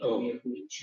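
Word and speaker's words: mjehurić: Bubble was more like Mihurich.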